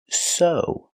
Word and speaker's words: sew: This word is pronounced so. The e w makes the long o sound like no and grow.